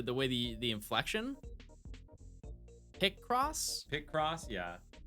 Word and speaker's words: Picross: way the the inflection pick cross pick cross yeah I put an emphasis on the wrong syllable the cross the cross yeah it's like calling